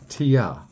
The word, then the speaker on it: Tyr: it was very similar to the knife that you'll see today this is a tear if um if you were an ancient Norse it would be pronounced Tia um from the best